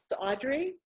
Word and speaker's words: Audre: of the earth sure actually my name's pronounced Audrey even though I don't have a why it's so it looks like Andrea or Andre but it's oddly so it's a you dairy and one of the